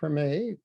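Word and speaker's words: Tremé: when you came here you settled in the Treme if I pronounced that correctly that's correct what was it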